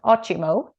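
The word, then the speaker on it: ótimo: and ochimo which is spelled o-t-i-m-o but it's pronounced ochimo and it means awesome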